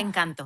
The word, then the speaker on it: Encanto: has this amazing video where she's looked at this movie Encanto. Is that how you say it? Yeah. Yeah. Encanto.